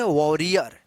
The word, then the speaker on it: warrior: अगर ए से पहले अगर W आता है तो इस ए का उच्चारण आप जो है ना औ कीजिएगा। तो आज के इस क्लास